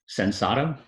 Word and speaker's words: Sensato: Sensato.